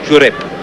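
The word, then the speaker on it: Xuereb: Lassen Sie sich nicht täuschen, dass er sich mit X schreibt, der wird ausgesprochen. Jurep. Maltesisch ist ja eine ganz eigene Sprache mit vielen Elementen des Arabischen.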